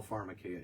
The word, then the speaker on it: Pharmakeia: Let's talk about someone got sober via LSD use, therefore Pharmakeia. Not all Pharmakeia is wrong.